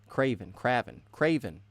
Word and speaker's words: Craven: Pronunciation of the name, Craven, like the hunter.